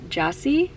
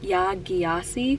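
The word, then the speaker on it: Jasi: I started homegoing by yah Jassie apparently is how you say the last name I kept saying yasi but it's not this also fulfills a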